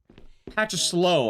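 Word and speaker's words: パチスロ: think is the weird it doesn't even have a T. It's weird. It's patch of slow. Like it sounds patch. I I don't know why there's not a T but it's weird because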